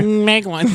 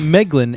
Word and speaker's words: Meglin: Meglin, M is actually his name in this version of the tale. In the canon version, they change it to an A. Magglin. So, forgive us for mispronouncing the Mag for the Meg.